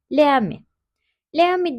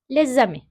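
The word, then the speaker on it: les amis: de ami olarak okuyoruz leam leam diye okursak hem telaffuzumu yanlış oluyor hem de bence kulağa hoş gelmiyor bakın lezam tek bir kelime gibi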